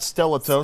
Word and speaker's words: Stellato: Stellato. I said Stellato. Yep, Stellato. That's how they pronounce it.